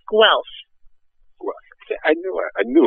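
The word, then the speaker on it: Guelph: it is in beautiful now how do you pronounce it gelf g l p no it's gu I knew it I knew it I was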